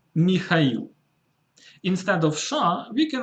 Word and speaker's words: Mikhail: I noticed that some English speakers have problems pronouncing this specific name, so it's Mikhail.